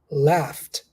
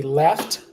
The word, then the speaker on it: laughed: laugh and laughed laughed do you know any word any similar word to this pronunciation in English when we say left left left left it's where it seems like we were talking about the right and left the sides right it's quite similar pronunciation there though the ending is is similar yeah very good that's